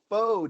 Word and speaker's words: pho: Well, I think I've exposed myself as knowing nothing about this because I say pho, it's pho.